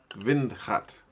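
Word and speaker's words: windgat: of modest approach but you pronounce it way differently okay vind vindhat w is always v i always forget that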